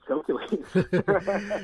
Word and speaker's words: Chokeules: you're an old guy with whose name is calculated so for so for so for those that are wondering it's spelled c-h-o-k-e-u-l-e-s yeah exactly basically the word choke